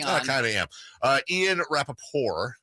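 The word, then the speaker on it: Ian Rapoport: Ian Rappaport is how it should be pronounced, by the way, because it seems kind of French.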